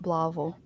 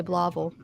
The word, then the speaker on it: Blytheville: blytheville blacksville yeah well they say they call it blaval but oh i thought it was blasphemy okay yeah that's what it that's how it's spelled it's blytheville but they say blobble okay yeah i'm not